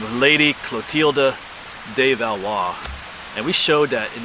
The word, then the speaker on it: Valois: There's the whole Valois line of kings in France. Maybe I'll put the name down below. It looks like Valois, but it's Valois in French, if I'm saying it correctly.